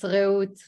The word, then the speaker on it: Reut: Is that how I pronounce it? It's Reut.